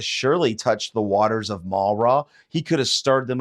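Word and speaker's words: Marah: die but what happens when they came to Mara Mara that's how you pronounce it Mara Mara is a Hebrew word that means bitter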